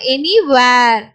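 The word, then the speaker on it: anywhere: இங்க எச் வந்து சைலண்டா வரும். அப்போ இவ் டபிள்யூட சவுண்ட் மட்டும் தான். அப்போ எனிவேர்.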